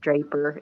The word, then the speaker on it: Draper: my mind by sharon i think it's pronounced draper it's d-r-a-p-e-r anyway that